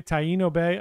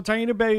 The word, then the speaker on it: Taino Bay: Taino Bay, I think that's how it's pronounced, is a newer port in the past year or so.